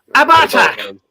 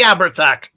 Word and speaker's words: Abhartach: Oh, I've got to try and pronounce this properly. Abhartach! Abhartach! What is this? It's the Abhartach.